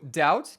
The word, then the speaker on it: doubt: certains mots par exemple le mot doubt qui vient du latin doubitare ou en anglais le B est devenu muet pareil pour le mot